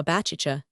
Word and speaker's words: Baciccia: John with the city, great numbers of the common people are christened Giovanni Baptista, which latter name is pronounced in the Genoese patois Baciccia, like a sneeze.